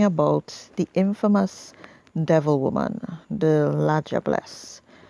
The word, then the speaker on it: La Diablesse: Today we're talking about the Infamous devil-woman, the La Diablesse, pronounced 'lah-jah-bless' even though it is derived from the French word 'diable' which means 'devil'.